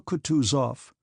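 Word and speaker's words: Kutuzov: said Anna pavlovna General coutu off said bonsky speaking French and stressing the last syllable of the general's name like a Frenchman has been pleased to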